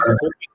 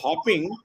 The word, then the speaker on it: hopping: They were reading that as hoping. Okay. Okay. When you write hoping, you write only one P, right? One thing. Hoping. Is that the pronunciation? So when it is hopping, there are two P in it.